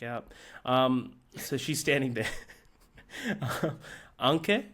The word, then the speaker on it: Anke: Anke, is that how you pronounce it? Mm-hmm. Anke, thank you.